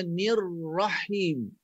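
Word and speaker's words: الرحيم: Jangan tekan bila nirrahim. Nirrahim. Tekan pada ra. Automatik ra ni dia akan mati dengan ha.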